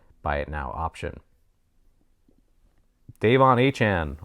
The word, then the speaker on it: Achane: Devon Achane, one of the hardest names to pronounce. That's what I was told today, and that's how you pronounce it, so I'm going with it, right?